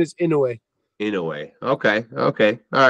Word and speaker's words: Inoue: Inoue. That's the correct pronunciation. Okay. Oh well, I apologize because I've been off. I've been calling him Inoue.